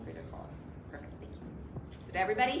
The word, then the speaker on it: Kahlo: Frida Kahlo.